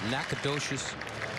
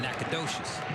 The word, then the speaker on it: Nacogdoches: Nacogdoches, Texas, and a Natchitoches, I think that's how you say it, Natchitoches, Louisiana.